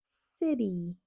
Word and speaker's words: city: Si quieres decir ciudad, no dirías city, dirías city. City.